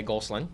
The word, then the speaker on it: Goslin: Up here in the Northeast Kingdom, we say Goslin. Right. Anything beyond St. Johnsbury, when we talk to all of our vendors, we say Goslin, and they know how to spell it that way.